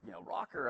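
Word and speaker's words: ROKR: And so he's like, rocker, okay, it's spelled like, R-O-K-R, that's cool spelling.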